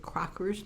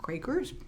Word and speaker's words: Crocker: study is Annette Crocker's she is Dutch so she pronounces at Crocker's not Quakers she is an executive